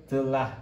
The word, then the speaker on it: Abdullah: Allah kita harusnya Maka kalau orang Indonesia Bacanya apa Harusnya kan Abdullah ini ya Abdullah Tentu saja itu nggak